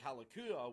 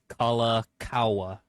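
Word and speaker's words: Kalākaua: Okay, so to pronounce his name right, I'm gonna set it straight. Excuse me. King Kalakaua. Again, this individual right here, he is King Kalakaua, and he has an entire boulevard named after him.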